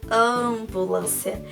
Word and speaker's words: ambulância: Eu pronuncio um me? Não. O me vai dar aqui o som nasal. Vai indicar que esse azinho saiu pelo nariz, o som. Olha que incrível. Se eu digo ambulância, olha só como a tia pronuncia ambulância. Esse sai aqui, ó, nasal.